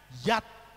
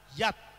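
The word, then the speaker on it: יד: Dibacanya Yat. Yod dan Dalet itu dibaca Yat.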